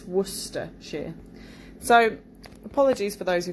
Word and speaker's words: Worcestershire: of looks like it's worse sister but it's woodster sure so apologies for those who found that quite